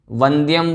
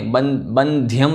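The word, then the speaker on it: वंद्यम्: नाग नरामर बंद्यम, वंद्यम बोलना है, बंध्यम नहीं, नाग नरामर वंद्यम, और देवम देवाधिपम वीरम, इस प्रकार से इसका उच्चारण हुआ।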